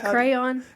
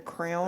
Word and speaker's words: crayon: use to draw pictures crayon crayon yeah but do you know some people call it like a crown uhhuh yeah that's weird well and fire is one